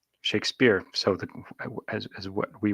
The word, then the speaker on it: Shakespeare: stratforian spellings would be shock spur to differentiate it from the author's name pronounced shake spear shakespeare's last shakespeare's last